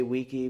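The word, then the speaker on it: VICI: jump to Vichy properties I know I want to say Wiki because I took classical Latin and that's the correct way to say it so I'll say VG for you guys all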